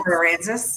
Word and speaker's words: Aransas: Aransas.